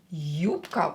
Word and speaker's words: Юбка: Юбка. Ударение на ю.